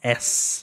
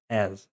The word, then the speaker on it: as: E aqui tem o s, s. Você não vai falar s, você fala as.